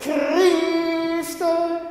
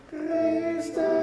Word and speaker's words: Christe: Christe. Right? Right? Let's do, can we do bar 43? I don't care if you're tentative or if you're entrance. At least pronounce the word correctly. Right? And Christe.